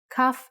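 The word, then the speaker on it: כף: Kaf actually is only pronounced like K when it has a dot inside. Just like Bet only has the B sound when it has this dot. Without the dot, it sounds like ch, chaf.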